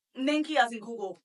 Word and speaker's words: Nengi: whatever, like, people there, British people, say it right, NENGI. Nigeria, of course, NENGI. Like, I feel like it's only in America that for some reason they want to put a J in my name, and I'm just like, I just don't understand.